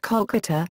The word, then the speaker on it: Kolkata: 2001, when it was changed to Kolkata in order to match Bengali pronunciation.